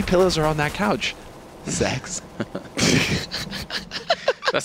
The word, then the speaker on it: sex: Sweden guys the letter the number six rather not the letter is pronounced sex which leads to a